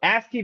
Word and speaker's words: ASCII: So ASKI values uh AS ci right pronounced ASK stands for the American